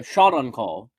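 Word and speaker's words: Shaundakul: I actually got it pretty close to how it's pronounced. Yes. Uh, shot on call.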